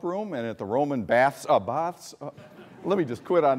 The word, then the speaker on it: Bath: Paul Zelkowski is for the last 30 years been trying to teach me how to say it right. It's always the University of Bath, you know, if you're from Detroit, Chicago, places like that, you know.